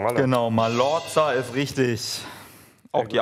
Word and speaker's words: Mallorca: Reiseziel schmale wahrscheinlich oder Mallorca wäre das gleich ausgesprochen genau Mallorca ist richtig auch die Aussprache ist absolut korrekt